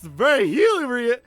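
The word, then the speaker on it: Virgilio: It's just we meet again, You look winded, Julio. It's pronounced ver viio.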